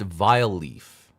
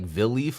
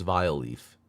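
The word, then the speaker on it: Vileaf: then the Smurf's Mission this is pronounced vile Leaf I thought it was like V Leaf like Village and leaf but no it's vile Leaf cu the bad guy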